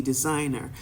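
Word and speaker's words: Desygner: of uh design options the next one is going to be designer and it's spelled D e s y g n e r d s y g n e r designer it's a design tool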